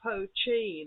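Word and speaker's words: poitín: just means whiskey but there's another word uh pochin it looks like poutine but they pronounce it like the cheese is ch that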